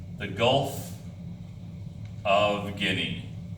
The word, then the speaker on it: Guinea: And then the bend here where Africa bends, this area is called the Gulf of Guinea. G-U-I-N-E-A, pronounced Guinea.